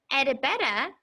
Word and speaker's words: Edibetta: today edibetta's radish patch edibetta is our friend that we just listened to the song and what's fun about her name is that it rhymes can you say edibetta and listen for the rhyme edda edda betta it